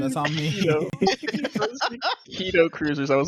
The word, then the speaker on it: Kaido Kruzers: I don't know these pronunciations. That's on me. Kaido Kruzers. I was like, do we have like a Oh, I said Kaido. I said Kaido. All right. franchise? My apologies. You said it's keto.